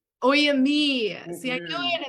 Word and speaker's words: Oyámie: Please tell me the correct pronunciation. Oyámie. Oyámie.